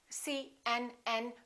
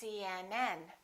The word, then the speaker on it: CNN: example cmn UCLA PhD the rule is we stress the last letter of an abbreviation for example CNN UCLA PhD let me show you how you need to do it when you say CNN make sure that you